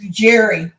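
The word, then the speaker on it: Gerry: That's Gary Jerry like Jerry or like a Jerry yeah yeah ask from Jerry yes she's saying yes okay so like Jerry I just saw it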